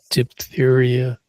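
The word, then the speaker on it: diphtheria: It's referred to as dtheria. Di p i a. dip the area.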